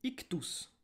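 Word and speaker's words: ἰχθύς: prend le mot poisson en grec ça se dit hic tous ça s'écrit y cht us où on peut mettre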